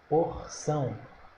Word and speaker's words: porção: oxítona s é oxítona porção Vamos separar porção porção porção sílaba tônica é a última também ó porção sílaba tônica é o são então porção também é o que estômago